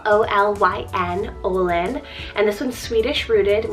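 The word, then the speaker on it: Olyn: O name for this girls list, we have Olin, spelled O-L-Y-N, Olin.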